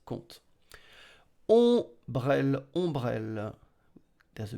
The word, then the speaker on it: compte: Oh, T is silent, sorry, I didn't write it, but T is silent, compte. Oh, sorry, P is silent, P is silent, compte.